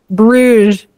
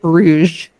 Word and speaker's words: Bruges: I think it's just Bruges. I don't think it's Bruges. Bruges. Just Bruges? Yeah. Just Bruges.